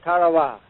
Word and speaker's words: Tarawa: Ladies and gentlemen, there's a tiny island in the Mid Pacific called Tarow. That pronunciation, incidentally, is from the National Geographic Society.